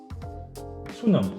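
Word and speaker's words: 수능: It's like Sunying or something like that. Sunung, yes. Sunung, yes.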